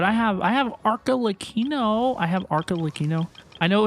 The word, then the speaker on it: Arlecchino: I have Arlecchino. I know it's pronounced Arlecchino.